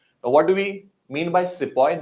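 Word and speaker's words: sepoy: do we mean by sippo and the word has come from the Hindi Urdu word sipahi sipahi since the britishers could not pronounce that word it got anglicized to sepoise so there are a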